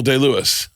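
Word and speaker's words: Day-Lewis: Daniel D. Lewis. All right. All right. So, you pronounce that right.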